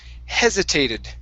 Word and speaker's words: hesitated: word for you is hesitated okay stress at the very beginning hesitated hesitated good all right nice